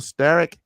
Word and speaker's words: Sterk: going well thanks Eric you did just fine that was exactly the way that I would have introduced it so thank